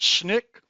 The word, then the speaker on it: SNCC: Another organization, the Student Nonviolent Coordinating Committee, SNCC, pronounced SNCC, was founded by young people in 1960 and was responsible for some lunch counter sit-ins and the Freedom Rides of 1961.